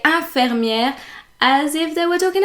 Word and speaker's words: infirmière: Infirmière, so that's the right way of pronouncing it. But a lot of people pronounce it infirmière.